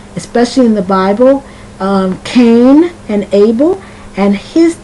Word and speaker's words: Cain: in the Bible um Cain and Abel and his name is spelled c a i n and that I tells you with the a that the a is pronounced like a long a cane okay now that's one